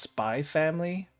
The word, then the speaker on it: Spy x Family: Basically, so it's technically it's supposed to be pronounced Spy Family. The X is like it's like Hunter x Hunter, but I pronounce the X anyway.